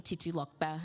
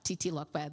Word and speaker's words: Titilope: Now, my name, Titi Lokpe, that's how we pronounce it. Titi Lokpe, that musical way of saying it, it means forever grateful.